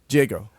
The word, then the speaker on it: Jago: Jago.